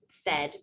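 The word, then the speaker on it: CED: purpose to the language we call it said because in spanish the pronunciation said means thirst and we really utilize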